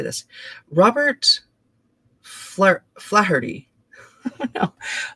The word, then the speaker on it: Flaherty: Robert Flaherty. No, Flaherty? It's Flaherty, a filmmaker of Nanook of the North and Louisiana Story.